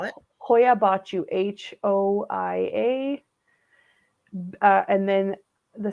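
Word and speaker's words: Hoia Baciu: why but what's the name how do I spell it Hoya bachu h-o-i-a uh and then the second word is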